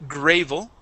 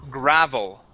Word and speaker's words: gravel: would pronounce the word graval the word is gravel gravel gravel okay give me a good V sound V gravel gravel gravel